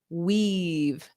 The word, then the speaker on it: weave: So let's practice that pronunciation because we have wave, hello, hello, but then this is weave, eve, weave. So that long E sound, they weaved.